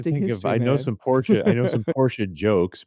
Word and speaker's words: Porsche: Well, if you actually take a look back that's the proper German pronunciation is Porsche. Porsche. Okay. Yeah. And it's supposed to not be like it's not Italian Porsha, right?